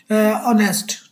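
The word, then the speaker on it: honest: शी गव मी एन ऑनेस्ट answer. As इज a silent. Vowel sound दे रहा है ओ ठीक है ना जी ऑनेस्ट ठीक है ना जी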